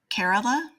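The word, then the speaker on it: Kerala: so um I think it's I'm gonna totally mispronounce this carerala I believe is how it's pronounced is kind of the center of that community.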